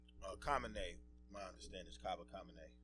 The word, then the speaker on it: Cabernet: And I just like to say, folks, it's pronounced Cabernet, right? Cabernet.